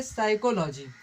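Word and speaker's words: psychology: सा तो यहां पर पी साइलेंट है ना तो इसको क्या पढ़ेंगे साइकोलॉजी साइकोलॉजी मेंस क्या होता है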